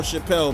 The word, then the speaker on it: Chappelle: Hey, this is pronounced Monsieur Chappelle, man. This guy's French, man.